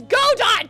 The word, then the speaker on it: Godot: It's Godot! Get it correct! It's not Gobo, it's Godot, Your Honor.